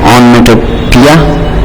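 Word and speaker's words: onomatopoeia: इसमें दोनों ओ को मत प्रोनाउंस करिए, इसको भी मत पढ़िए और इसको भी मत पढ़िए। एंड द स्पेलिंग इज ऑनमेटोपिया, ठीक है, ऑनमेटोपिया।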